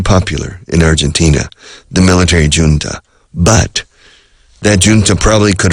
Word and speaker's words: junta: The junta, en inglés decimos junta, pronunciamos la J a lo inglés.